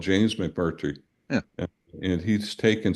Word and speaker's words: McMurtry: McNerty. Yeah, yeah. I Yeah, I pronounced it love wrong. Larry McMurtry.